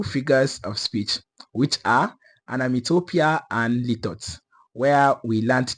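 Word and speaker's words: onomatopoeia: our last class where I pronounced a word as anamatapia when the word is actually supposed to be pronounced as anamitopia.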